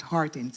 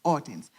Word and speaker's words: Hortense: I am Hortense, and I say it correctly, it's not Hortense, it's Hortense.